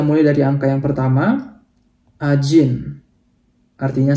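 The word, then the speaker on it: один: Ajin. Artinya 1 ya. Jadi ini huruf D tapi dibaca kayak J ya teman-teman. Jadi bacanya bukan Adin tapi Ajin.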